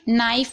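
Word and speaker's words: knife: नाइफ में आप देख रहे हैं K के बाद N है, तो K को नहीं पढ़ा जा रहा है। ठीक है, अगर K के बाद N आता है तो K साइलेंट रहता है।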